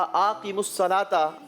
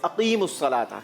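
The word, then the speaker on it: أقيموا الصلاة: आपने कहा आक़िमुस्सलाता। बिल्कुल गलत है क्योंकि सही जवाब है अक़ीमुस्सलाता। क्या है? अक़ीमुस्सलाता। जवाब वैसे हम आपका दुरुस्त मान लेते हैं। 30 पॉइंट्स फैजान एकेडमी के लिए। जी सही प्रोनाउंसिएशन है अक़ीमुस्सलाता। आक़िमुस्सलाता नहीं है।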